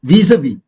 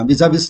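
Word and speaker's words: vis-à-vis: और वीज़-वी, वीज़-वी का मतलब है इन रिलेशन टू। वीज़-वी कैसे बोल रहा हूँ देखना, वीज़ा-विस नहीं बोल रहा हूँ, वीज़-वी है का मतलब है इन रिलेशन टू।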